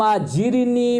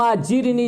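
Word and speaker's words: أجرني: بات کی جائے گی۔ یہاں پر صرف اس کے تلفظ کو سمجھایا کہ اللہم اجرنی من النار، اللہم اجرنی، جیم را زیر جر، جر پڑھنا یہاں پر، اس پر انشاءاللہ تفصیلی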